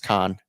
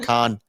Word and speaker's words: Cannes: Yeah, but I think the f French pronunciation is con that you could be right in that.